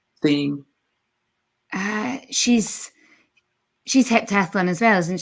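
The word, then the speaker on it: Thiam: Katrina Johnson-Thompson and Nafi Tame. How do you say her name? Theme.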